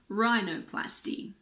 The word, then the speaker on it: rhinoplasty: words girin ghetto Ghost similarly if a word starts with RH the H is silent like in rhinoceros or rhythm I always forget how to spell these two words there are also a lot of medical and scientific words that start with RH for example Rheumatic or rhinoplasty if a word starts